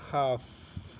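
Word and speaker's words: half: देखें हाफ हाफ एल के बाद क्या है? एफ है।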